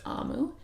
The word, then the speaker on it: Omu: There's an important note for us here before we start the story that says, note to the reader, Amu, pronounced Amu, is the Igbo term for queen.